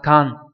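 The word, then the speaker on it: 感: Thì chúng ta có chữ cảm này không có âm cư thường dụng, âm ôn của nó là can.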